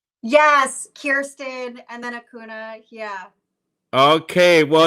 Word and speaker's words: Acuna: of all i'm gonna bring in miss uh okuna uh i hope hopefully i'm pronouncing her name correctly um am i pronouncing your name correctly yes kirsten and then hakuna yeah okay well it's so so uh so